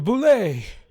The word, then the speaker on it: bulette: in there what was it uh yes the boulay yes it's pronounced by the way everyone else says at